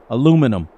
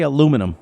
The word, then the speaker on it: aluminum: for a year um aluminum that's how I pronounce it we say Lu minium that's different I say aluminum yeah you guys say aluminum well like I said